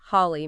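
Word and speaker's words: Halle: Think of Vater meaning father, where the A is long, versus Holly meaning hall, where the A is short. I see.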